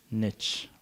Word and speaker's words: niche: Niche from now on the whole world says Niche except the Americans Niche rhymes with Rich okay the bigger the